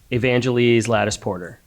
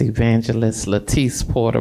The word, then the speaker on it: Evangelist Latise Porter: Uh, the next speaker we have signed up is Miss Evangel Lattis Porter. Good evening, Miss Evangelist Latise Porter, but don't don't worry about it. They always mistaken, you know, mispronounce my name.